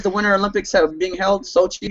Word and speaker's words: Sochi: Sochi, is that how you pronounce it? Yeah. Soji? Sochi.